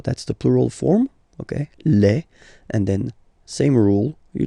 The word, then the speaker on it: les: the plural form okay Le and then same rule you just write leave and then you put S at the end but then you don't pronounce it Le so it's quite